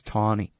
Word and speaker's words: Taney: I think it's Taney.